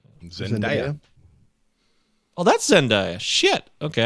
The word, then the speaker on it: Zendaya: I love that we're so in our 40s that one of our co-hosts could be like, "Oh, that's pronounces her name wrong. That's Zendaya."